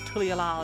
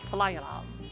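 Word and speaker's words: Tuliyollal: It's not Tulialal, it's Talayalal.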